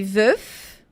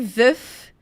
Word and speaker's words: veuf: Je suis veuf e je suis veuve. Então, é som de F e de V mesmo. Je suis veuf, je suis veuve.